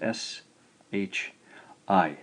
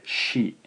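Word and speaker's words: し: Unfortunately though, there is no C sound in Japanese. What we do is romanize this as S-H-I, shi, shi. To write shi, very simply, we'll start in the upper left-hand quadrant, just left of the center line, come down, and a little hook upwards. So that is pronounced shi, shi.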